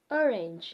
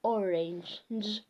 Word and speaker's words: orange: which sounds as G rage pigeon generous Germany orange you know I remember sometime my dad used to tell they used to pronounce it as orang but it's orange Sledge hedge age another one that we have